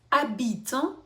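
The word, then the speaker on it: habite: Значить тут у нас абіто слово Іль абіто ашніма тому вона не не вимовляється Іль абіт живе далі а а -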